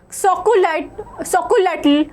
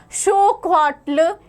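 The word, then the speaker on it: xocolatl: It was even enjoyed by the Aztec emperor Montezuma, and the Aztec word for it, chocolatl, pronounced as xocoatl, evolved in the English word chocolate.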